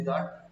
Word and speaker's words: Jat: Spelling की दिक्कत पड़ती है भाई, देख लो JAT जो है ऑफिशियल है, इसको बोलते हैं जट, ये उर्दू की लहजे से है, इसे JUT भी लिख सकते हैं, इंग्लिश में JAT ऑफिशियल यूज होती है।